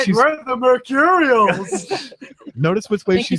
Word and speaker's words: Mercurials: We're the Mercurials.